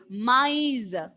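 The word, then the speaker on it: maïs: And see, when the trema is there, you have to pronounce those two vowel letters separately. Maize.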